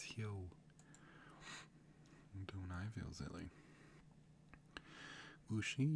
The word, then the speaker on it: Huo: Oh, I've been saying it wrong. It's Hyo.